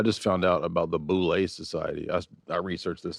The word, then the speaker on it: Boule: Boule. How do you How do you spell it?